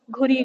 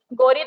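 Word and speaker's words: Ghuri: हैं, मोइजुद्दीन मोहम्मद घुरी, घुरी घुरी, गौरी तो हम बोल देते हैं बट होता वो घुरी है, हम गलत प्रोनाउंसिएशन करते हैं, मोहम्मद घुरी।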